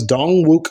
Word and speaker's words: Dongwook: 14 other people in a vicious attack now pronounced as dong wuk Co and possibly being sent to South Korea